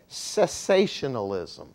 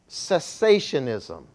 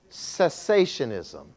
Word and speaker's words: cessationism: The first ism that I want to talk to you about is what is called cessationalism. Cessationism. Cessationism.